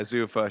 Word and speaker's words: Zuffa: yeah, Zuffa, sure, Yeah, so Zuffa boxing is now a thing, and they did put on a Canelo and Crawford card earlier this year.